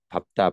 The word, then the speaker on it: 밟다: 그런데 그게 아니라 요 단어 네 개, 밥다, 받고, 밟는, 밥지는 예외적으로 뒤에 걸 발음해.